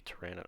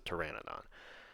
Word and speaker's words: pteranodon: official name is the pteranodon that being said the p bugs me the silent p bugs